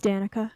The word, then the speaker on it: Danica: now i think it's like danica it is danica yeah let's go where are we danica danica